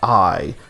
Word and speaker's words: Ai: campaign via the character I. It says AI but it's pronounced I.